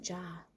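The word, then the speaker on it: ચા: jar or chai uh you pronounce it ja in Gujarati I don't know if any other Indian language pronounces it differently than in the Hindi language but yeah in Gujarati is Ja not chai but that's it's I want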